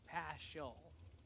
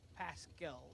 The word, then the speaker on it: Paschall: michael paschall getting ready the way that's spelled you want to say past show but it's like pascal with a k yeah like richard dukes